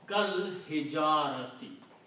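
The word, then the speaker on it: كالحجارة: So now, if you pronounce this word, you combine kaf with lam, kal hijarati.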